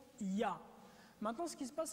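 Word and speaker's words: יה: Et la translittération, les 2 premières parties YH se prononcent Ya.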